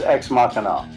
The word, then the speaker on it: Ex Machina: How do I pronounce this? That's Ex Machina. Ex Machina.